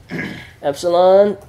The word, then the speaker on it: epsilon: Everybody say epsilon. Epsilon. It's E as in met.